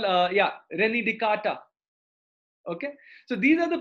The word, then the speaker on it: Descartes: It is written as Descartes, but pronounced as Descartes.